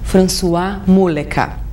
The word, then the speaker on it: François Muleka: Descobri, ela é de Floripa, o nome dele já é chique, sente só a pronúncia, François Muleca.